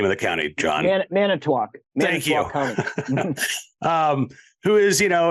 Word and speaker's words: Manitowoc: You're going to have to help me pronounce the name of the county, John. Manitowoc.